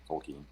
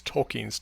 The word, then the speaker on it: Tolkien: Well, I think the stress is on the first syllable, but it's not a schwa or a completely, reduced vowel. Tolkien.